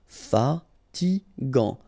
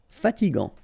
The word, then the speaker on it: fatigant: In that case, you've got A N, so it's gant. Final T not pronounced. Fatigant. Fatigant.